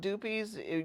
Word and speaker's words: Du Puis: And the locals call it Dupies. You would pronounce it duh.